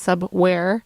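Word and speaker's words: Subwvre: before that we had sub ware but it's print it's uh spelled uh instead of w-a-r-e it's w-v-r-e but pronounced sub-where the song called oregon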